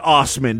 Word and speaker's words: Assman: ass men probably are he pronounces it Ostman doesn't he he said his family's like German or something uh he refuses to